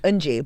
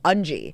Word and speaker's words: Unji: In Korean, it's Unji. But in English, the way it's spelled, I always corrected people as Unji.